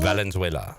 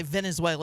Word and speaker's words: Valenzuela: Valenzuela. Yeah, I always want to say Venezuela because that's as close to how I can pronounce his name.